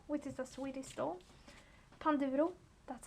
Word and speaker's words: Panduro: Panduro, that's how you say it.